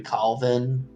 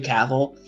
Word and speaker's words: Cavill: well it's the same thing with like henry calvin i think that's how he's you say his name okay yeah henry cavill like people were they recently he was he